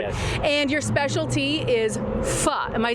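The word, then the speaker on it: phở: And your specialty is pho. Am I saying it correctly? Yes. Okay. Yes, my specialty is pho.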